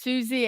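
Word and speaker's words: Siouxsie: is right there oh it's pronounced Susie and the Banshees sorry about that how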